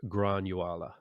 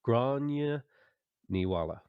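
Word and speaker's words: Gráinne Ní Mháille: Grace O'Malley or Granuala. I said it wrong. Grania Niwala.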